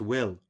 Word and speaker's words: Wilt: In the Celtic language, Wilt, pronounced Will or Wilch, the T at the end of the word having the liquefied sound of ch in Christian, is a mountain stream, a brook, a river.